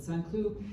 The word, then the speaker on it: Saint-Cloud: St. Cloud is how it's spelled in English, but Saint-Cloud is a very fancy part of, it's a neighborhood outside of Paris, and we were with the rats.